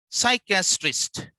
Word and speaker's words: psychiatrist: Now, the first one is psychiatrist. PS enrolled. Now, P is silent.